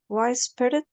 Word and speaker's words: whispered: And this one is Whispered. whispered. Whispered. Exactly. So we notice that this letter is silent, and this Yes. is silent. Sniffed and whispered.